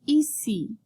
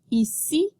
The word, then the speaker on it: ici: So we're going to talk about the vowels oo and ici. So be sure to pronounce the I in French as in mimi. So repeat. Ici, ici, Philippe, Philippe, il, Mimi, Mimi, Sylvie, Sylvie, visite, visite.